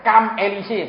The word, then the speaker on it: Champs-Élysées: Itu tulisnya kan Champs-Élysées, bacanya Champs-Élysées.